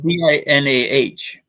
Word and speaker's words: Dinah: Just remember the Dinah Shore show. And that's how she pronounced her name. Well, hers Yeah. is Dinah.